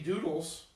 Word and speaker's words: Dudles: And on Instagram, it is Doodles, but it's Yeah. spelled like, DUDLES. Okay. Like dude. okay, sick.